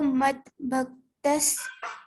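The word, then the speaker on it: मद्भक्त: Yo madbhaktas same priyaha. Same priyaha. Yo madbhaktas same priyaha. Yo bhaktas same priyaha. Here bhakta bha mahaprana you have to pronounce.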